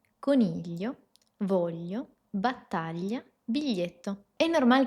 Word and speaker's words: coniglio: El primero es decirte que puedes imaginarte una L antes del sonido.